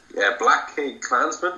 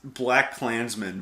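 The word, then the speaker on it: BlacKkKlansman: I think it's Black Klansman, but it's just really stylized with that extra K in there. Yeah. I don't know. I think it sounds better to say just Black Klansman.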